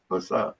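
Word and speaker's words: פסח: Pesach.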